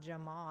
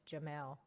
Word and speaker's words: Jamal: Okay, it's not Jamal, it's Jamel. He is letting me know.